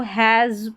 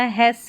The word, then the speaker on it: has: Every successful person हैज़, HAS को हैज़ पढ़ना, हैस नहीं पढ़ेंगे, एस का उच्चारण ज है।